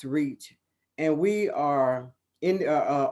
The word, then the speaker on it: RECH: educator for community hope we use the acronyms rech pronounce reach and we are in